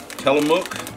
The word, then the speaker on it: Tillamook: It's made by Tillamook, I believe is how you pronounce it.